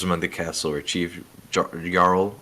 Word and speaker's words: Jarl: The only survivors among the castle were Chief Jarl. I'm going to say it right now. Yarl.